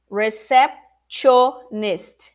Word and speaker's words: receptionist: Well, most people that make a mistake pronouncing this profession, they pronounce it like they read it. Receptionist. Receptio with a T. Receptionist. And that's wrong.